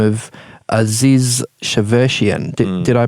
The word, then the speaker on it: Aziz Shavershian: about a young guy by the name of Aziz Shavershian. Did I pronounce that correctly?